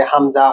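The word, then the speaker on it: همزة: এইবার আমরা শিখবো হচ্ছে হামজা। হামজা হামজা, নাম হামজা। উচ্চারণ গলার একদম গভীর থেকে একটা ঝটকা দিয়ে আ উ ই, বাংলা ধ্বনি আছে না।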